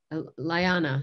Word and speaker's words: Liana: Liana is actually how you say her name, Kasser.